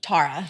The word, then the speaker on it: Tara: It just mispronounced my name. Well, and your name is Tara. Tara.